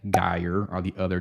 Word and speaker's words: Geyer: So Lindbergh Boulevard, Clayton Road, and then this is how you pronounce them. Spady and Geyer are the other 2.